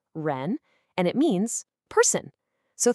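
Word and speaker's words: 亻: And this specific radical, ren, is pronounced ren and it means person.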